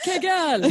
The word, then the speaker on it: Kegel: It's pronounced Kegel.